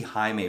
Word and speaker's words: Jaime: which I think when when white people say see Jaime written down they say Jamie because they're not they're